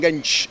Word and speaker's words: Genç: It's Genç. Ah, yeah, you are number 8. Yes. I pronounced properly this time, right?